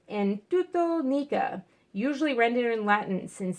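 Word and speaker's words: ἐν τούτῳ νίκα: symbol of Christ, and the words in Greek, pronounced en tuto nica, usually rendered in Latin,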